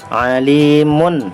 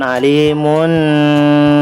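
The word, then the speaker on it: عليم: tanwin ya Demah tanwin Alimun hobiron Alimun bukan Halimun salah ya tetapi ahli Moon hobiron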